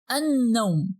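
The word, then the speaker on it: النوم: Here we only pronounce the first letter of al, that is alif, and we skip the lam to pronounce directly the sonar letter. But pay attention, we must pronounce the sonar letter after al with some pressure. Means we have to put shadda above it.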